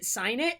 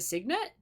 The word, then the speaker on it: signet: a hard G like is it sinet or is it Signet it's got to be sinet right like that can't be a hard G I'm going with sinet cuz that's what I'm guessing it is it is hard it's a Signet really dang I guessed